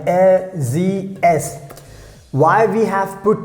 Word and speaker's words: sie: So here er means he, sie means she, the pronunciation, keep in mind, sie. S is pronounced like z, and sie means she, and here s means it.